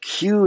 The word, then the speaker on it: queue: a word that goes it's spelled q-u-e-u-e q-u-e-u-e so it's nothing it's basically the letter q pronounced q followed by four silent vowels it's the dumbest word